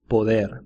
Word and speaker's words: poder: Poder. Harry Potter. It's like poder.